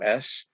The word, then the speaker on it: Fynbos: That's Fynbos. Trying to pronounce it like an Afrikaner.